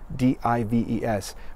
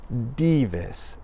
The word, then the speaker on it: Dives: his name was Dives, D-I-V-E-S, in English, Dives, but in Latin pronounced Divis, Divis. Can you say that with me? Divis, or Divis, depending on the pronunciation that you want to use.